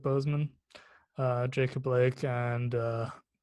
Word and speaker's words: Boseman: week uh chadwick uh he's pronounced it bozeman right yeah chadwick boseman uh jacob blake and